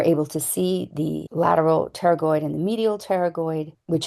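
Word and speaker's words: pterygoid: This word that starts with a P is said terragoid. The P is silent.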